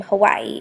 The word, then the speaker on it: Hawaii: in the Hawaiian language is actually the name Hawaii it is pronounced Hawaii and with that to kind of